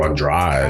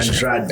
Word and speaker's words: Andrade: I think they were saying her name Andrade. Andrada. I think I said it wrong.